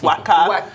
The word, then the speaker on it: Waka: know what coming cause i was i was mispronouncing it he was explaining to me that it's waka yeah and it means to walk yeah now